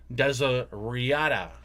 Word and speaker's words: Desiderata: The correct pronunciation is Desiderata.